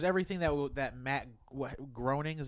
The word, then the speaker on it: Groening: mean it was everything that would that Matt Groening is how you say his name yeah he